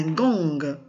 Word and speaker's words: gong: Mais parfois, on trouve aussi la lettre G à la fin du mot, mais elle se prononce. Par exemple, un gong.